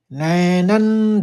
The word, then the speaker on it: नैनं: तो अनुस्वार लेना है यों का, क्योंकि च छ जो आपको पहले बताया है नियम, और आघात में 2 नौ के उच्चारण आपको स्पष्ट सुनाई देना है लोगों को। तो उच्चारण इस तरह से करेंगे कि नैनै छिन्दन्ति शस्त्राणि।